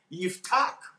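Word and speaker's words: יפתח: Yiftach, that's the way it's pronounced.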